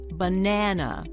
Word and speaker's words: banana: Notice that the middle syllable, na, is longer than the other two syllables. It's also slightly louder, and the vowel is nice and clear. The other syllables are shorter, quieter, and reduced to a relaxed sound, like an uh.